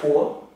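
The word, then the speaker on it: 伯: Cái này bạn đọc là púa.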